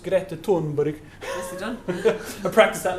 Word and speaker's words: Greta Thunberg: So I thought I'd finish on a slightly more upbeat quote here from, I believe it's pronounced Greta Thunberg.